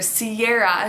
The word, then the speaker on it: Ciara: with the gorgeous singer ciara she pronounces her name that way this spelling however pretty much the only place that it's being pronounced Sierra is in the US and canada this is the name